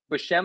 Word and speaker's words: Buscema: look how beautiful wait, it's Buscema, right? Buscema Yeah, is how we pronounce it.